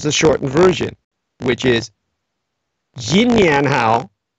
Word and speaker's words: Xinnian Hao: You can also use the shortened version, which is Xinnian Hao, like Good New Year, which is pronounced again slowly, Xinnian Hao.